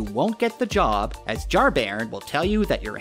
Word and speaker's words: Jar-Bairn: over here this is jar baron who i've been pronouncing as jar bjorn because i'm an idiot thanks google jar baron